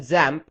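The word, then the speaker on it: XAMPP: using it we're going to use something called examp you can also call it zamp and that's how it's supposed to be pronounced however I'll just refer to it as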